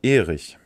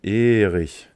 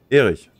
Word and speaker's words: Erich: Die Betonung liegt auf der ersten Silbe. Erich. Kein Erich. Kein Erich. Erich. Erich.